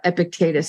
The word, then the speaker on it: Epictetus: There's many, and I stick to Epictetus. There are a few Greek pronunciations.